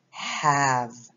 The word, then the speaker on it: have: is have1 ZAR mm-hmm remember the e is silent here so our word is have-have I have three dogs